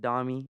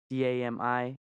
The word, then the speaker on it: Dami: So yeah, Dami, pronounced Dami, Dami, comes from my name Damasio, given to me by my parents, from my obviously from my parents.